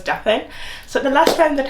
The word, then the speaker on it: Daphine: My name is Daphine, and yes, it is spelled that with an I, although it's pronounced as Daphine.